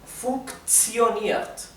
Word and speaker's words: funktioniert: La K con la T se pronuncia, la T deja de pronunciarse como una T y esto se pronunciaría así. Perdón. Como una TS. Entonces esto en vez de pronunciarse funktioniert sería funktioniert. ¿Sí?